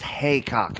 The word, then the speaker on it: Heacock: It's pronounced haycock, apparently. Is it? Yeah, I'm I got it so wrong sorry. every time I said it.